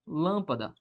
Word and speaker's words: lâmpada: Um exemplo a palavra lâmpada. Lâmpada. O que é que eu tenho na palavra lâmpada? Eu tenho o seguinte, ó. Lâmpada. A sílaba tônica recai sobre a antepenúltima.